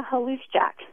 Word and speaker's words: Haluszczak: the 14th district yes I am it's Hollis Jack hellooo check okay very good well a loose check okay if they see the name on